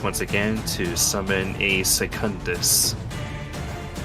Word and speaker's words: secundus: her Primus Palace once again to summon a secundus probably mispronounced that but it's funny no you actually